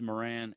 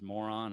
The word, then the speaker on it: Moran: You know, my last name is Moran, and a lot of people mispronounce it as moron, and I think to myself, who's going to name their kid moron?